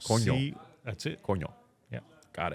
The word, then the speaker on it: coño: Can you help this gringo with the pronunciation? Coño. Coño.